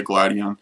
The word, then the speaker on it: Gladion: is up glidian you guys might notice that i say gladian and gladion i just go with whatever pronunciation my mind sets on so sometimes i say gladian sometimes i say gladion it's potato potato tomato tomato really except for you know in this case i say both but either way hopefully